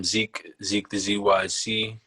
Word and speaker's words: Zeeq the ZYC: I'm Zeeq the ZYC. That's ZEEQ THEZYC. You could also say it like DZYC, but it's Zeeq the ZYC, just as it's spelled out.